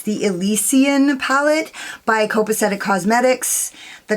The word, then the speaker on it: Elysian: or characteristic of heaven or paradise and it's pronounced elysian yeah elysian so anyways yeah i mean i've been wondering